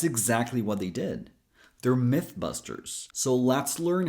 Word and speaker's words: Mythbusters: Careful so you don't pronounce it as E.